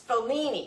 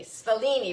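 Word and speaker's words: Sfoglini: this is a cascatelli it's Fellini Fellini but there's a silent G in there it's at s-f-o-g-l-i-n-i and this is probably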